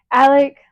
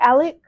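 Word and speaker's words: Alix: started the podcast and Alec was like Alex. Alex. Okay. I was like, it's just spelled like ALIK or not K, X. X. Even though it's like Alex, it's weird.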